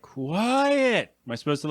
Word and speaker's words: QU!ET: So it's QU exclamation point ET. Is that right? Yeah. So I'm supposed to say it like quiet.